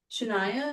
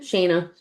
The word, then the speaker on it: Shayna: Like, Shania, is that how you say it? Shayna.